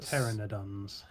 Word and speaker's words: Pteranodons: Lately, the pteranodons have... Pteranodons. Don't have that's how you pronounce it. Pteranodons. The P is silent, is it?